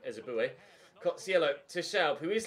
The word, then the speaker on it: Ehizibue: Ehizibue, apparently, is how Derek Ray pronounced it. I'm just still to call him Ezebue.